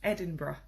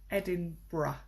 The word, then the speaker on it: Edinburgh: recommend oh good question what is the right pronunciation of the capital of Scotland that's a great question it's Edinburgh Edinburgh and say a spelt funny Edie I and B you are gh but it's pronounced Edinburgh good question thank you any other questions like